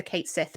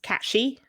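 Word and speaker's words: Cait Sith: called the Kate Sith, but it's not pronounced that way in Gaelic. I can never remember which is the correct pronunciation. But the correct way to pronounce the creature from folklore is Catchy.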